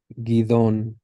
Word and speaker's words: Gideon: Gidon is Gideon. What? Kilot? Gilad. Gilad. So Is in that English, we do Gilead. So if you're starting to see a pattern with these past two, that the ayin is silent, but it does tend to, at least when we're translating it into the English, take on a little bit of a y sound, right? It's not much, but it's slightly there. So Gideon, Gideon versus Gilead, Gilead.